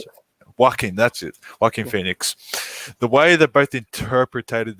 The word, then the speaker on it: Joaquin Phoenix: How do you pronounce it? Joaquin. That's it. Joaquin Phoenix.